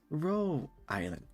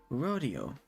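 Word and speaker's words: Rhodes Island: Also, sorry, it's Ro Island, not Rodeo.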